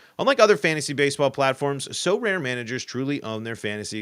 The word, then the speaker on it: Sorare: leaderboards win a variety of rewards, which includes So Rare scarcity cards, game tickets, merchandise, signed jerseys, and VIP experiences like meeting MLB stars.